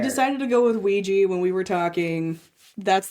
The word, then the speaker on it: Ouija: So most people think it's that and um you can say Ouija or Ouija. So, it's you can pronounce it either way.